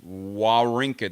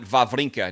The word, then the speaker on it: Wawrinka: I hear Stan Wawrinka pronounce his name it's Wawrinka it's Wall Rinka there's no these it's not valve linka now I was told